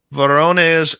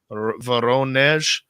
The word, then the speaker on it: Voronezh: Voronezh. The syllable in Russian words, we started in North America on the first letters, but they do the second syllable as the high pronunciation.